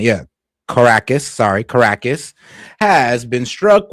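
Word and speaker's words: Caracas: Venezuela early this morning, the capital city of Carcass or Well, just making sure I pronounce Yeah, Caracus.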